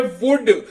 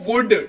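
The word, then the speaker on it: would: हैं जो कि है वुड डब्लू ओ यू एल डी लेकिन पढ़ते वक्त एल को बोलेंगे चुप रहो और पढ़ेंगे इसको वुड डब्लू ओ यू एल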